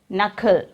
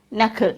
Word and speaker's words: knuckle: It is knuckle. It is knuckle. Here also K is silent and we can pronounce it as knuckle.